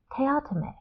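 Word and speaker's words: Teatime: that the pronunciation is actually different, that he pronounces his name Teayto.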